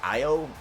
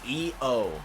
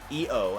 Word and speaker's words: Io: That was like Io, and people were like, it's E-O, and I was like, oh, okay, E-O, and then I tried her last name, and I was like, Shira.